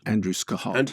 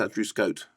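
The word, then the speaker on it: Andrew Scott: is really terrific Paul Mescal yes particularly good Andrew scah no it's pronounced Andrew Scot did you know that let's do that from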